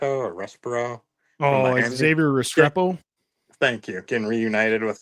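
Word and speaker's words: Restrepo: Rest pronounce this guy's name more. Respirto or Respo? Oh, Xavier Restreo.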